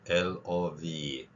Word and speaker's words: love: OVE가 들어간 단어 중에 대표적인 단어가 LOVE, love.